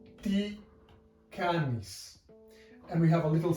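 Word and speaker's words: τι κάνεις: Now this is pronounced ti canis. And we have a little semicolon at the end, which is the Greek question mark. So all in all, that would be ti canis, and that means how are you?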